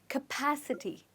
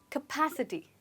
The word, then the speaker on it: capacity: we pronounce it so this word cap is actually not pronounced as cap here it's pronounced as cup capacity try it again capacity well done okay let's